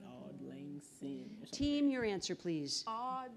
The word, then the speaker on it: Auld Lang Syne: How do you pronounce it? It's like Auld Lang Syne.